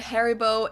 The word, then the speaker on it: Haribo: Maybe not everyone knew that Haribo is actually German. Had no clue. We pronounce it Haribo.